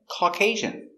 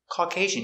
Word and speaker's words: Caucasian: were both caucasian pronunciation caucasian caucasian you have a u a u always makes the ah sound the sound is here all call caucasian caucasian three syllables the intonation's on the second syllable caucasian caucasian yes they